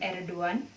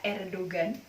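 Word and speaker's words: Erdoğan: Kemudian G yang punya mahkota itu Yumusa G, atau ada tapi tidak ada, seperti nama presiden Turki yaitu Presiden Erdogan, atau kita sebutnya Erdogan.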